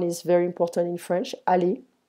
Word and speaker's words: aller: Aller, to go, not aller, aller.